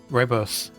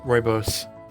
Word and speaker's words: rooibos: Well, if you've never looked it up, then you can't pronounce it. Rooibos. Rooibos? Rooibos.